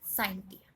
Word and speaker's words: scientia: The word science has been derived from the Latin word pronounced as scientia.